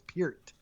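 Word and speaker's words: Peart: that's bert you know everybody it's piert okay like perry yeah because giddy wantanabe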